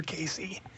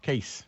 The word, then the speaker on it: Cayce: and you're, you know, typing in K A Y and not finding him, it's C A Y C. Edgar Casey. Thank you, John. Thank you. I Yeah. How did you How did you pronounce it when How did you pronounce it when you Casey, right?